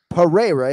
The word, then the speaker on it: Pereira: But in the case of Alex Pereira, they're both Rs, right? So yes, Pereira, if you want to say it like that, or if you want to get fancy, you can drop a pada as we do, but uh eventually it'll stick for you folks.